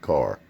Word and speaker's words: Kerr: spellings but there's um there's a k-e-r-r people call it curb but most people from around here call it car yeah car drugs or